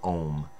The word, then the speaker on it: Ogham: It's kind of like the ogum, or the ohm. Ogum, I know more people might recognize OGHAM, but it's pronounced ohm.